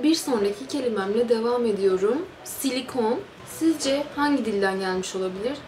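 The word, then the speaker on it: silicone: bu da fransızcadan geçmiş bu nasıl okunuyor hemen bakalım silikon silikon deniyormuş Fransızcada şimdi bir sonraki kelimeye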